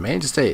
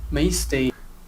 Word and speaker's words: mainstay: And mainstay is a good word to use, but he mispronounces it. As with so many other words he said. It's a mainstay of our... No, there's no N.